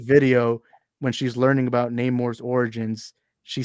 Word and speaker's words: Namor: true and actually guys it's now pronounced Namor and I don't like that I want to pronounce it name more bro that's my thing